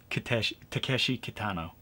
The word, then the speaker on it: Takeshi Kitano: I'm sorry, I mispronounced. Like I got his name wrong. Takeshi Kitano.